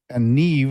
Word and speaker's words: Niamh: She was at the Irish pub, and her name was Neve. And again, the Irish and Celtic names are way different. And Neve is spelled NIAMH. And you get Neve out of it.